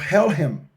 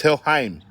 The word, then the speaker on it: Helheim: if you look at Viking mythology, Norwegian mythology, they had an idea called Helhem. Are you familiar with that It's Helheim. But go ahead.